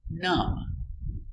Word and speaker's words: numb: little dumb very good example num silent be num num is a